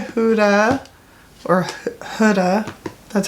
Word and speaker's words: Huda: All right, and then I have 2, 3 Huda, or Huda, that's how you say your name.